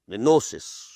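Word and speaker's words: gnosis: ऑफ अल्लाह सुान ताला नोसिस this is written with ji but pronounce without ji गोसिस नो नोसिस नस्टिक्स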